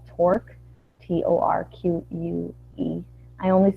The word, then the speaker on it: Torque: And we had a library that we'd written that was open source called Torque, T-O-R-Q-U-E. I only spell it because I didn't put it on the screen.